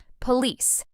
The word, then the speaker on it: police: Think of the word release which rhymes with the second part of police. That rhyme can really help the stress feel natural.